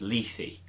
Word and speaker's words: Lethe: According to that How to Pronounce YouTube channel, it's Lethe.